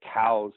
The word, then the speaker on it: Coues: to say two s and it's cou es is how you spell it the actual pronunciation you are correct it was named after a guy named Elliot cows who actually designated these